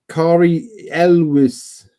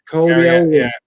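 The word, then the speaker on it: Cary Elwes: That's how you pronounce it. Kari Elwes. Canada. Kari Elwes.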